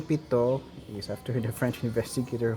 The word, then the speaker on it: pitot: okay next is the pitot i think the last tee there is silent so it's pito tube okay so pitot tube